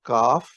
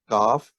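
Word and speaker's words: کاف: the English letter k in Urdu it's called kaf is how we pronounce the the letter kaf and the independent form is this oh messed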